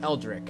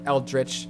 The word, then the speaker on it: Eldritch: and that game is called eldri or eldrich however you want to pronounce it I personally will probably going be back going back and forth between the two um but that's neither